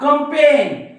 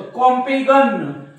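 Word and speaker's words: campaign: बघा foreign foreign हा कंपेन कंपेन या जी च्या काही नाही म्हणजे जी चा उच्चार होत नाही आणि जी चा उच्चार केलं तर कॉम्पेगन डिझायगन सायझन रिझायझन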